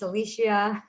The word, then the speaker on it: Alicia: wrong i totally apologize it's alicia i want to pronounce every single vowel i told you i